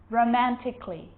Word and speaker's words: romantically: romantically musically logically so i'm not pronouncing romantically musically and logically cut the a out get rid of it romantically musically logically now there's